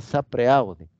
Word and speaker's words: sapere aude: Se escribe sapere aude, se pronuncia sapere aude.